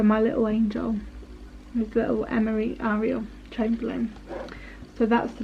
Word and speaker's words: Emery: So we went for Emery, Ariel.